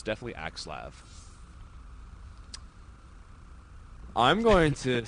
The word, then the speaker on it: Axslav: man it's aav well there's no accent over the a and typically like L A makes a lav sound but you know what